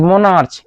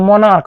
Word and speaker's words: monarch: उसी तरह से मोनार्क, मोनार्क लिखा है, यहाँ मोनार्च लिखा गया है, MONARC मोनार्च, लेकिन बोलते हैं मोनार्क, यानी CH का उच्चारण क्या आ रहा है, को,